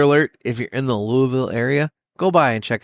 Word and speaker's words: Louisville: Spoiler alert, if you're in the Louisville area, go by and check it out.